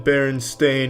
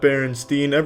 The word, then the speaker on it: Berenstain: It's always been Berenstain, not Berenstein. They all want to pronounce it Steen, but it's Stain.